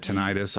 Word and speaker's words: tinnitus: And I was thinking about comparing it to tinnitus. I don't know if anybody's ever had tinnitus, or tinnitus, for those who like to correct people's pronunciation of things.